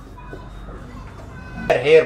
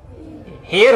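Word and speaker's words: hair: ठीक है, अगर हम कहते हैं हेयर, बाल बाल बाल, तो क्या होगा, हेयर होता, एयर नहीं होता, जाहिल आदमी।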